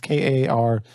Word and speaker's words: Karpyshyn: I don't know how to pronounce his last name. It's Karpyshyn.